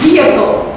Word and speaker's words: vehicle: You don't hear the H much. You almost don't hear the H at all. It's vehicle. You don't hear the H.